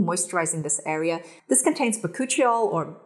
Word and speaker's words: bakuchiol: This contains bakuchiol, or bakuchiol, apparently I've been saying it wrong, and rosehip